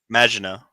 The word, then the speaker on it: Maginot: the name of the ship is the how you pronounce that? Maginot.